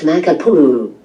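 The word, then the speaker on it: Makapuʻu: For instance, Makapua is pronounced Makapuu.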